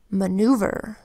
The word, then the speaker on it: maneuver: Maneuver is spelled with an M that says then an A that makes an unstressed vowel sound, then N that says N, then our EU phonogram that says oo, a V that says